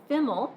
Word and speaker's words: FIML: next semester being offered uh fiml as it is pronounced is one way that